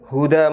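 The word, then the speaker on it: هدى: kalimatnya wa khairal huda huda Muhammadin sallallahu alaihi wasallam. Karena di sini ada dua cara baca. Bisa dibaca khairal huda, bisa dibaca khairal hadyi.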